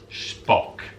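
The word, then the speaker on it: Shpock: that's not my list that is how it is spelt s-h-p-o-c-k spock you've probably seen adverts for it as far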